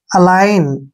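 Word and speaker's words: align: है यह ध्यान रखिए जब भी एन से पहले जी आएगा तो वहां पर जी साइलेंट रहेगा अब यहां देखिए ए का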